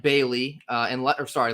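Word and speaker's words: Baly: is Javon I believe his last name is pronounced Bailey but it's b-a-l-y Javon Bailey uh picking NC State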